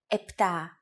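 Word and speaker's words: επτά: for numbers sometimes though especially in casual conversation Greeks also use efta instead of eptah octo instead of octo and Enya instead of Anya so if you notice someone using these words don't be surprised they're exactly the same as the ones you have learned actually yours are more correct after only two lessons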